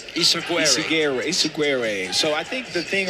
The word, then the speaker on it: Ysaguirre: Ysaguirre. Ysaguirre.